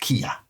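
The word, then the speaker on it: Killa: K I L L A but it's pronounced Kia.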